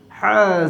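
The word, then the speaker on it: ح: Ha Zer Hi. From the middle of the throat you have to pronounce Ha.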